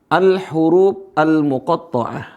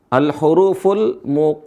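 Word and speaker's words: الحروف المقطعة: Al-huruf al-muqatta'ah. Al-hurufu. Bisa dibaca ya? Al-huruful afwan. Ini salah. Cara bacanya adalah al-huruf al-huruf al-muqatta'ah. Al-huruful muqatta'atu. Nah, pembahasan kita adalah al-huruf al-muqatta'ah.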